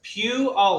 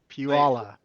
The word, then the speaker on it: Puyallup: So it's Puyallup, like Puyallup.